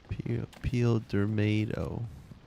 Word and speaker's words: Pildermado: but if you understand, it's spelled peel like a banana peel, and then der like der burger, and then mato like the end of tomato. Peel Dermado.